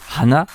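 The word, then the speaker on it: 鼻: Il est d'ailleurs intéressant de dire que le nez qui se prononce aussi hana, mais qui ne détient pas néanmoins le même kanji, se prononce ainsi de par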